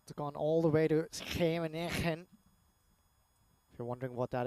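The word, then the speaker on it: Scheveningen: Schemenegen, of course, I tried to pronounce it the Dutch way. Strong G's down they have them.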